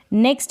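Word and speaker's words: neck: last में अगर सी के आएगा तो के साइलेंट रहेगा, जैसे यहाँ पर है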